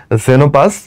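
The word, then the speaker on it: Xenopus: আচ্ছা আচ্ছা এখানে একটা ছবি দিছে দেখো দুইটা ব্যাঙ একটা নাম হচ্ছে জেনোপাস এটা কিন্তু এক্স যদি শুরুতে থাকে তারপর যদি ভাওয়েল থাকে উচ্চারণটা হবে জের মত ওকে এটার নাম কি বল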